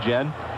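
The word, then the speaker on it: Guillén: Gan and that is the proper way to pronounce his name although he doesn't mind as most people say Gan but you have brought me around and now we're both saying Yen Manny sanan was here with a group of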